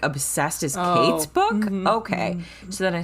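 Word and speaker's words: Cait: named kate and um kate spelled like c-a-i-t now obsessed which is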